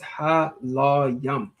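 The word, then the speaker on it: הלויים: All right, that Laya is how you say Levi. So the Ha in front of it makes it the yum at the end of it makes it plural, right?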